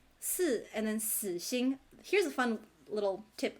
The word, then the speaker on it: 死: So the 4th tone for the number 4, and then the 3rd tone for the word death. Even though the pinyin is si and it's all pronounced 死.